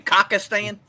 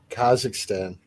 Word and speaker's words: Kazakhstan: So, y'all are saying Kakistan. Kazakhstan. Kazakhstan. It's spelled the same way, is it?